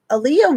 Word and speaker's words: Aaliyah: saying it right oh I am I'm saying Aaliyah right cool P um poac Tupac thank you